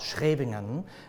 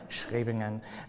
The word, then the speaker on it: Scheveningen: live in the Netherlands in a town called Scheveningen, which is on the coast, and which no non-Dutch native can pronounce, right? Scheveningen, it's a great word.